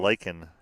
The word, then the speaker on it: Laken: Laken, Canada. Like a lake in Canada. That's what it's spelled.